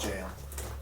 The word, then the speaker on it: gaol: G-A-O, or G-A-O-L here actually is pronounced jail. Funny enough. Oh, Yeah, that's just that's jail. That's the old-timey way of spelling jail.